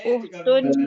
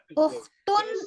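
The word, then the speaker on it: أختُ: Man hadhihi uhtun Abbasin. Uhtun atau ukhtu kira-kira? Uhtu. Tuh kenapa? Mudhof. Oke, excellent. Jadi awareness-nya kita udah mode on, mulai mode on ya, karena dia berstatus mudhof ya.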